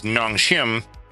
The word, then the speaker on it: Nongshim: let's pronounce that right, did a collab merch with Nongshim, or did that backwards? Sorry, no, I did say that backwards. The company is Nongshim, and the brand is Shin Ramyun.